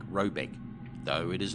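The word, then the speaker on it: Råbäck: hair guard in question is to be called rayback pronounced something like robec though it is not its name it is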